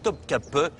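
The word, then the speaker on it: Topkapı: Dès le début de son règne, Soliment s'installe dans son serrail, c'est-à-dire son palais de Topkapi, qu'on prononce ici Top Cape et qui signifie littéralement la porte des canons.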